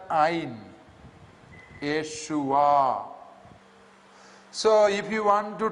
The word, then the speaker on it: Yeshua: the term Jesus, rather Hebrew has got its own way of pronouncing certain nouns. And Yeshua, yeah, with the yod, then with the 2 dots, you know, it is a, ye. Shu with the shin, and again with wow, a dot inside.